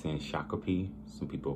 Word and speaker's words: Shakopee: It's a guy, I want to say from Wisconsin, but it's in Shakopee. Some people pronounce that Shakopee.